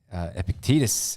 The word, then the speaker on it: Epictetus: but I believe it Epictetus is how you pronounce it or in us if